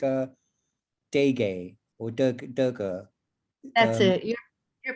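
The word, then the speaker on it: Dege Parkhang: i know it's i think it's called uh degay or duggar that's it you're pronouncing it correctly i i just know it is dirge parkhang and they have an online i have a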